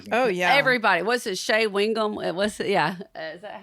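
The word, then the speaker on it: Shea Whigham: Shea Wingham? Is that how you say it? Yes, Shea Wingham.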